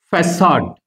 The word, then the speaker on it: facade: But there is one exception in English, and that word is facade.